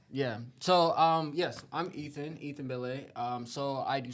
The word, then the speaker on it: Belle: Belle. So it's technically Belle. You did pronounce it right. So it's spelled Belle, but like in France it's Belle. But like we produce music as well.